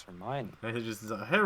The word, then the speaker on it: Hermione: you don't pronounce them oh no exactly like hermione's name and harry potter oh true it's like you read it it's like how do you pronounce it it's it's hermione yeah he's just a hair remember i think